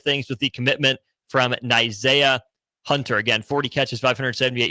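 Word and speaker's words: Zah: name is spelled and according to the Cal website it rhymes with Isaiah that's how you say nah Hunter is in the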